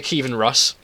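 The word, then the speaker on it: Kievan Rus': Okay, so in this battle, I'm the Kievan Rush. That's how you pronounce it.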